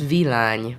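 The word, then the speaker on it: Villány: so correct me volani how do you pronounce it it's Vine Vine um that's the region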